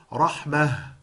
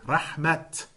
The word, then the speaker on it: rahmah: Like, for example, when an ayah ends with a ta marbuta, it is pronounced with a ha sound. This is something that's taught. And sometimes you'll see the word rahmah and you pronounce it rahmah. But at other times you see it and you pronounce it rahmat.